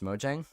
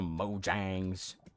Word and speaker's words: Mojang: So I'm gonna keep saying Mojang. You're there, the Mojangs.